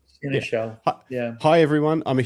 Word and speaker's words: seneschal: Michael, how do I pronounce this? Seneschal? Seneschal? Yeah, sure. Seneschal.